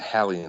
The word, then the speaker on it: Hallean: Probably the Hallean Effect, because it's derived from Sir Edmund Halley of Halley's Comet fame, incorporates that gentleman into the lore and goes from there.